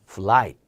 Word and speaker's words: flight: 발음이 플라이트가 아니에요. F 발음 넣어서 플라이트도 아니에요. 트 발음까지 죽일 겁니다. 예를 들면 이런 거죠. 예를 들면 플라이트가 아니라 flight. 이렇게 발음이 좀 줄어들 거예요.